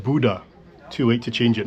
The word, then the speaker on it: Bodø: That's the next plane arrive, but apparently the destination is pronounced Buddha.